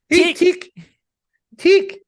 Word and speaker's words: Tick: somebody was like Hey Tech I'm like no you're pronouncing it wrong it's TI tick which I was I